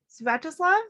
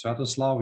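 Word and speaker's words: Sviatoslav: Galia and let's see, Svatoslav. Did I pronounce that correctly? Would one of you like to come off mute and say hello? Yeah, let me start. Hello, everyone. My name is Svatoslav. You pronounced it completely correctly.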